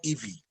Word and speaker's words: Ivie: IVIE is called Ivy.